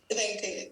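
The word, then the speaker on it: Venkayya: Bengali, sorry, so sorry, sir, I'm not able to correctly pronounce his name. Venkatesh. He's from Andhra Pradesh. Venkaya. Venkaya, yes.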